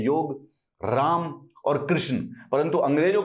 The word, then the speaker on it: राम: तो इसीलिए जब राम लिखा जाता है तो राम का मतलब है मां, तो ये मां प्लस अ है, ठीक है? Hence it is written as रामा, उसको प्रोनाउंस कर देते हैं। अगर असली में ये रामा होता, पीछे आ की मात्रा होती, तो इस ए